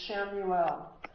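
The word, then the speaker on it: Chamuel: Light green is the archangel Shamuel. Shamuel's name is spelled C H A M U L.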